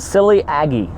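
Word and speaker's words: Vasiliy Agiy: a clip pronounce my name small poor but silly Agee that is the pronunciation - my name it's an Ukrainian named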